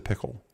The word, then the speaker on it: Pkl: It's PKL but you pronounce it pickle.